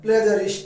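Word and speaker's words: plagiarist: দেয় তো তাকে আমরা কি বলি হ্যাঁ প্লেজারিস্ট উচ্চারণটা প্লাগিয়ারিস্ট নয় প্লেজারিস্ট বলি প্লেজারিস্ট ঠিক আছে গ্রন্থ চুরি করে যে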